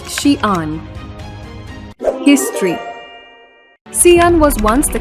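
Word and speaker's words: Xi'an: Shian speak Mandarin Chinese the city's name is pronounced Shian history cion was once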